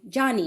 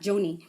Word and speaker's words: Joni: John Ericson so we we are going to pronounce her name Johnny not Joni Her father is an